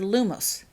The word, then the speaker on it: Lumos: "While you say the word Lumos. Put the accent on the first part and make sure you finish the word and the wand motion at the same time.